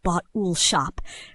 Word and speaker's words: bottle shop: Last but not least is bottle shop, pronounced bot-ool shop, which is the liquor store attached to many Australian pubs. You might say, "I'll swing by the bottle shop on the way out," and just break it into 2 clear parts, bottle and shop.